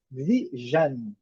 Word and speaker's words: vision: Em inglês, vision.